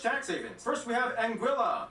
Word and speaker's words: Anguilla: havens first we have anguilla yeah that's how you pronounce it named after the spanish